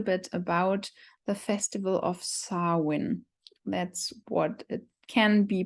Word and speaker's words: Samhain: you a little bit about the Festival of sarwin that's what it can be pronounced sauwin um which is uh the ancient third and